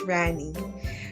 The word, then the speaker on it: Rani: please call me it's actually a Sanskrit word meaning queen but the usual pronunciation is a bit slower it's usually pronounced as Rani but either way you